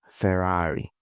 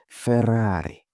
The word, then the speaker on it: Ferrari: This is what we call Ferrari. Ferrari SF90. Ferrari 2960TB. Ferrari super fast and so on. Ferrari. But that's not how Italians pronounce it. They say Ferrari.